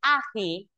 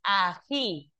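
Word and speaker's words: ají: Ejemplo, si tengo la palabra ai, ai, no es agi, es aji. El acento está en la última sílaba.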